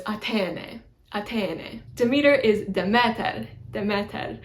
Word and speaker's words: Athene: Athena is spelled a couple of different ways, but I think Homer uses an eta at the end instead of an alpha, I think. So it's Athene, Athene. You can also say Athena is the alternate way to spell it.